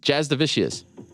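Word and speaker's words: Jasudavicius: it is jazz divisius jazz divisius my name is Jasmine Jazz division Jazz divisius it's the Z I heard it you said it right Jazz divisius okay shout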